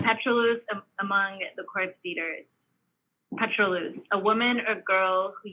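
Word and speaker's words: pétroleuse: And yes, you pronounced it correctly, petrolus.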